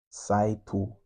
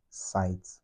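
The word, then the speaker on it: サイト: in a Japanese tongue, it would be saito, not sight.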